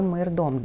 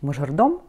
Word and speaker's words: майордом: Кто такой майордом? На самом деле для русского языка гораздо более понятно звучит мажордом, вот, но правильно считается произносить майордом.